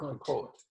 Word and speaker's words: Pokot: Did I pronounce that right? Yeah. Pakot or Pakot?